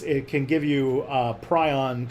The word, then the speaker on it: prion: So it's pronounced prion.